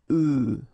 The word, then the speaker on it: œufs: if you listen carefully, the pronunciation is changing quite much, because for the singular form it's œuf, but then for the plural form here it's œufs, okay?